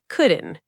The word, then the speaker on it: couldn't: Let's break down the pronunciation of couldn't. It's a contraction of could and not. For many of our listeners, that DNT sound at the end is very hard.